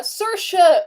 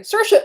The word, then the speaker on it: Saoirse: i just love her her presence so uh sercia oonan oonan sorry sirsha una ronan was born april 12 1994 in